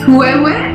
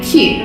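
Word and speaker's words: queue: I've heard kuewe, I've heard QU, but really we just say Q. Q, one syllable.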